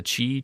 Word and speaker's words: Qi: It's spelled XI, but it's the Qi charger.